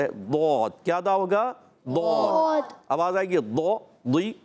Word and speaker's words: ضاد: ضاد کو دال نہیں پڑھنا، ڈال نہیں پڑھنا، زواد نہیں پڑھنا، زوئے نہیں پڑھنا.